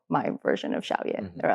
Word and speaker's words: Xiao Ye: How do you pronounce it? Yeah, exactly. Yes, Xiao Ye.